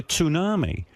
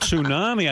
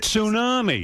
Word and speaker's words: tsunami: And I said to my wife, "You know, they're carrying on like they're expecting a tsunami." And she goes and she goes, she goes, "Tunami?" I go, "Yeah, tsunami."